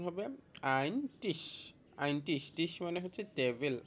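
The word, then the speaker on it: Ein Tisch: এটার উচ্চারণ হবে আইন টিশ।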